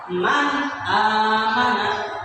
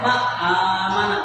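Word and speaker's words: مَنْ آمَنَ: Ini dibaca nun mati itu man amana, harus jelas, tidak boleh man amana atau ma amana, tidak boleh ya, jadi harus jelas nun matinya.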